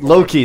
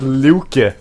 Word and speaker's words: Loki: the Norris God but I still pronounce it Loki not luk nor li no luk is the Swedish name you know that right